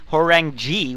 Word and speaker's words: Chalrenge: Hey, we saw it from Chalrenge, which is apparently the correct way to say that kid's name, Chalrenge 2.